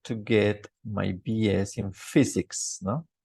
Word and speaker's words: physics: I studied for 5 years in order to get my BS in physics, ¿no? Physics. Esa PH empezando es como una F, physics.